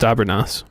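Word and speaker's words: Dobranoc: Good night in Polish is pronounced Dabernas.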